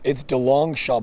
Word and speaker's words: DeLongchamps: Yeah, it's DeLongchamps, but I got to be honest with you.